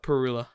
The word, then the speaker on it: Parula: Northern Parula. Perula? Oof. Oh yeah, they're Perula. hemlock. That's right. I'll never I guarantee you'll never get that in my backyard, but is it pronounced Parula or Perula? Perula.